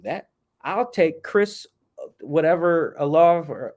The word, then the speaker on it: Olave: I'll take Chris, whatever, Olave, or Olo, how you say my man's name from Ohio State. He's number 2 from Ohio State. Can't remember how to pronounce the last name. It's Olave.